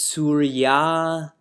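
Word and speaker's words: सूर्य: Before we chant together, in my book, Surya doesn't have a long A, but there should be a long A there. It's Surya Lokam.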